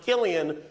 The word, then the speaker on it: Cillian: Interesting fact about his name, it's pronounced Killian when he does drama.